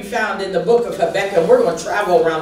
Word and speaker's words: Habakkuk: The word of the Lord can be found in the book of Habakkuk. We're going to travel around the Bible this morning, or some pronounce it Habakkuk.